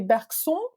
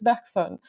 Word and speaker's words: Bergson: Sometimes Anglophones are tempted to say Bergson, but actually that's not that would be, I guess, the French pronunciation, but that's not how it's pronounced because it's Bergson.